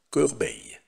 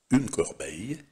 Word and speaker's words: corbeille: Et maintenant, entraînons-nous à prononcer les noms, ce geste vite, qui contiennent le son i. Commençons par le mot corbeille. Une corbeille, la corbeille, carzina.